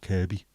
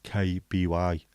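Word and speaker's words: Kirkby: sound the same and we were talking about Kirby um near Liverpool k i r k b y pronounced kby but written KB and the reason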